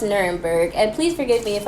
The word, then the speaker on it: Nuremberg: It's actually pronounced Nuremberg, and please forgive me if I'm looking down at my my collective notes right here.